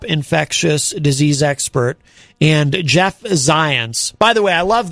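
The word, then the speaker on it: Zients: disease expert and jeff zions by the way i love that uh his name rhymes with science jeff zions the white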